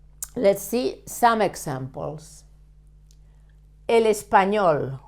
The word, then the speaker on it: español: El español. Why do we stress the last syllable?